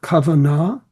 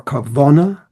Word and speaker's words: kavanah: For him, prayer was not simply a recitation, not simply a plea for this or that, but it involved kavanah, or kavona, as he pronounced it, namely devotion, intention, leading to dveikus.